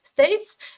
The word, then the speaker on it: STAYC: Стейси, правильно говорить.